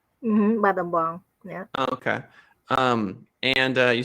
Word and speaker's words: Battambang: find my mom's hometown, I'm sorry, I can't pronounce it, Battambang? Battambang, yeah.